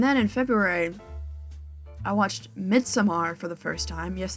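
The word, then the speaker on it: Midsommar: know um and then in February I watched mid samar for the first time yes it's mid Samar is how you pronounce it I got spoiled for a lot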